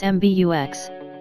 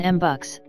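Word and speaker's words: MBUX: MB UX for short which you pronounce MB UX rather than m bucks since the latter sounds like a Marlboro miles reboot MB UX is launching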